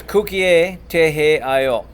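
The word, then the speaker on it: 국기에 대하여: chariot QA next is Kuki a ta IO and I always tell my students if you can say cookie you can add an A at the end just pretend you're in Canada cook yeah you want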